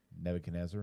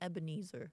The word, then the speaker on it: Nebuchadnezzar: um he killed countless how do you say that Nebuchadnezzar okay yeah I kept wanting to call him Ebenezer Ebenezer no not Ebenezer that's that's the Christmas story yeah yeah the Carol